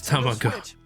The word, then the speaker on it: Tamagotchi: It is Tamagotchi.